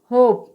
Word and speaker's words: hope: इसी प्रकार से HOPE, तो यहाँ पे आप देख सकते हैं कि E वोवेल लेटर लास्ट में आया है और इससे पहले वोवेल लेटर O आया है, तो यहाँ पर O का उच्चारण O होगा। तो यहाँ पर HOPE का उच्चारण क्या होगा, होप। ठीक है, तो यहाँ पर E का कोई उच्चारण नहीं होता है।